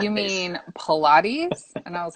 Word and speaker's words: Pilates: um i want to sign up for these pilots classes they're like you mean pilates and i was like yeah okay but it's